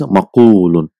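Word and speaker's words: مقول: So it is difficult to pronounce maqwulun. So instead of that, one waw is dropped and a dhamma is given to fa kalima, is maqulun. So if you say mab'iyun,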